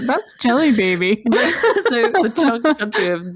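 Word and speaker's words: Djelibeybi: It's spelt DJELIBEBE. And when you're just reading it, you're like, yeah, cool. And if you have to say it out loud, it says Jelly Baby.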